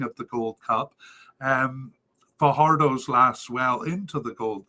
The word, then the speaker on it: Fajardo: I've been calling it uh Jose for her Fajardo fayardo I do know how to say it I'm